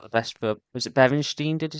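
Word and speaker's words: Beerensteyn: it brings out the best for was it Benstein, did you say? Yeah, Benstein. Yeah, Benstein. Yeah, I always get a bit paranoid when I'm pronouncing names now.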